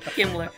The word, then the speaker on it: Kemmler: Did he pronounce that correctly, Bill? Kemmler.